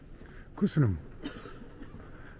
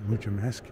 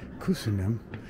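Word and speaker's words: köszönöm: I kept saying muchamesk, but it's really kusunim. But he said something that really made it stick for me. Kuzi. Just say kuzi, and so that's how I remember now.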